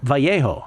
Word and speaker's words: Vallejo: Nathan Vallejo, I hope you pronounce it that way, Nathan, or our Bay Area horrible pronunciation of Vallejo would be Vallejo.